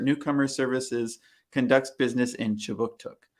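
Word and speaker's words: Kjipuktuk: Services conducts business in Chibuktuk, which is how you say Halifax, Nova Scotia in the Mi'kmaq language.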